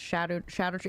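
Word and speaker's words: Scadutree: I learned like yesterday it's pronounced shadow tree. It's pronounced shadow. Yeah. That's like the old world way of saying shadow. But I'm not changing. I'm not changing my ways. Skidoo tree or bust.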